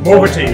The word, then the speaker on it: Muoverti: From Muoverti. Did I pronounce that correctly? Muoverti, yes, we need to keep on moving in time.